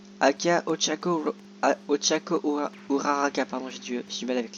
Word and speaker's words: Uraraka: Donc là, là-bas il y a Uraviti, Aka Ochako, Uraraka, pardon, j'ai du mal avec l'air ces temps-ci.